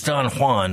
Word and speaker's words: Don Juan: don't have to go that far but it's Don Juan notan and you don't have to go you